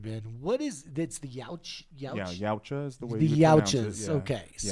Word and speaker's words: Yautja: Yeah, Yautja is the way the you pronounce it.